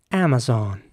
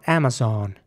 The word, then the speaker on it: Amazon: Amazon thingy oh Wicked in American English it would be more like Amazon so the a at the beginning first of all is pronounced like an like an air Amazon and the O is quite round Amazon some British English